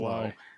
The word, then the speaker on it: Sloo: Well, apparently the story comes from the mid 18th century, where there was a family named Slow, but spelled Sloo, but pronounced wonder Slow, why.